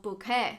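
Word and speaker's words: bokeh: with a lot of bouet that's a Japanese word okay don't come for me that is how it's actually pronounced and although this works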